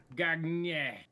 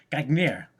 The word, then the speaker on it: gagner: Gagner. You never pronounce the final. You don't have to be ignorant. You're not. That's not Canadian French for the. That's Paris French. Gagner, like that's what you did.